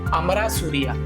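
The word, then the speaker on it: Amarasuriya: हरिनी अमरा सुरी सरिया देखो नाम ही प्रोनाउंस कर ब साउथ वाला नाम है तमिल से थोड़ा रिलेटेड ऐसे लिख लेना अमरा सूरिया दिस इ य वाला य ठीक है तो ये क्या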